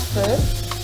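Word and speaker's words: phở: Attends, toi tu dis feu? Ouais, on se prononce feu.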